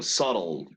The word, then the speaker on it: subtle: Subtly se escribe eso, ¿no? Pero subtle, sutil.